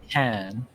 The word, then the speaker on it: Tekken: It's pronounced Tekken.